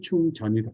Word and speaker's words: 충전: 그래서 이거는 진으로 읽지 않고 전으로 읽어요. 전으로. 한번 구글에서 여러분들 한번 확인해 보세요. 한글로 전으로 읽어요. 확인한 사람 있으면 채팅창에 한번 얘기해 보고. 그래서 이걸 충진이라고 읽으면 이제 땡 하고 틀린 거죠. 필링은 충전이다. 충전.